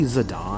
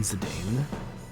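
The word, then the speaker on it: Zidane: like uh Zedane where like it's officially Zadon and admittedly that's kind of how I've always pronounced it more as just Zadon rather than Zedane but I also get why people just call him like Zedane.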